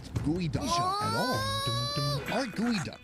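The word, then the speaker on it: geoduck: First off, it's pronounced gooey duck at all.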